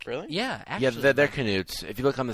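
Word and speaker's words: Knuts: they're pronounced nudes like brilliant yeah yeah they're canoes if you look on the scholastic pronunciation or newts canutes oh canoes really yeah that's really cool because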